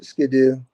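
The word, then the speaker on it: sgian-dubh: yeah it's a little sko or however you pronounce it yeah it's it's Skidoo I used I went to Scotland I'm like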